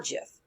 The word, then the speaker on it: GIF: you to know that steve wilheit the creator of them has said that they are pronounced chips however the oxford dictionary says that they can be pronounced gif or jeth so take that away